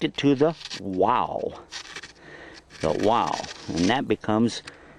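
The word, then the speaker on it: واو: The wow. And that becomes, wow is pronounced oo, so that would be shoe.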